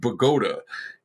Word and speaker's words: Bogota: to bogota which the the new jersey town spelled exactly the same way is pronounced pagoda in in a what